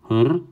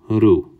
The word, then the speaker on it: Horus: We don't say Horus, that's Greek or Roman. We say Hr, right? Or we say Hru, and that's it.